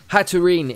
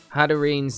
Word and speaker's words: Hatterene: on a Thursday, so we've got our first opponent, and they are playing a Copraja, a Hatterene, Hatterene is how we pronounce it, really.